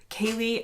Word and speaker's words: Ceilidh: Now, if you had written down the word Ceilidh and then asked me to say it, I certainly wouldn't be pronouncing it correctly like I am now because it doesn't look like Ceilidh. But that is how it's spelled.